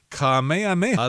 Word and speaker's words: Kamehameha: And let me see if I can pronounce this word here. It says King Kamehameha.